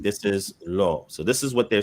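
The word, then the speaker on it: לא: So it's pronounced lo because what's ascribed to the aleph is the cholam, right?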